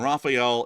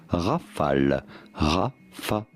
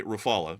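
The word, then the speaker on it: Rafale: In France, we would say Rafal Rafal. So, as you can see, I'm not really saying it wrong. I'm trying to say it the French way, but in my American accent, I say Rafala, but largely the same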